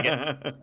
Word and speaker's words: spigot: You guys are even pronouncing it wrong. It's Spigot. It's a spigot. Oh, a spigot. Why was I thinking QU? It doesn't matter. I'm dumb. All right, it's GOT.